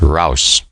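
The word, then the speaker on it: raus: out of the trench cross is the word they use pronounced rouse this was the first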